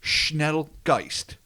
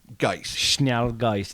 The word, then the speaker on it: Schnellgeist: I am not an expert at all on any pronunciation of even the English language, as has been well established, but I think it's Schnellgeist. Schnallgeist.